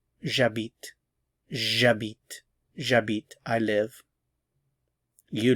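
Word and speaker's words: j'habite: have my root here it has to be the J apostrophe because the H is silent so this begins with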